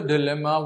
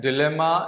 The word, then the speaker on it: dilemma: so what was the Dilemma what was the confusion now see this word is pronounced as dilemma and dilemma both and the meaning is same the differences of just American and British pronunciation and that is sort